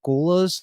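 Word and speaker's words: gholas: future are these things I don't know if I'm pronouncing it right called goulas like g h o l a and they are essentially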